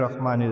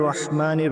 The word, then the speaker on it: রহমান: তবে অনুরোধ থাকবে বিসমিল্লাহির রাহমানির রাহিম। এখানে রহমান এবং রহিমের যে উচ্চারণটা সেটা গলার থেকে হবে।